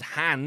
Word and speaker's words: Han: Empire Strikes Back Lando pronounces Han as if to rhyme with can't no matter that Han himself pronounces it to